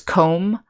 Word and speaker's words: comb: over here we have some words that have a silent b at the end of a word after the letter m such as comb or lamb the animal or a limb which means an arm or a leg so let's talk just practice saying these words and knowing that these all contain a silent b okay next we're